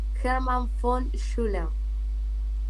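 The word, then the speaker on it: Hermann von Schullern: Hermann von Schuller. Hermann von Schuller. Sí, la B se pronuncia como F. Ajá. Y el ERN como A, ¿no? Como ERN. Schuller.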